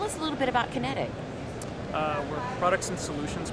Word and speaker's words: QinetiQ: all of that and that's kinetic that's spelled q i n e t IQ so uh in a